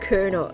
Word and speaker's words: colonel: this word so much colonel like how how's the pronounced kernel like lono even if